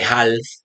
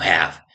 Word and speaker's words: half: No se dice half, sino have. Nuevamente nos encontramos con el caso de una L silenciosa.